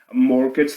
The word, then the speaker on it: mortgage: loan but a mortgage mortgage there's a silent T in there a mortgage is basically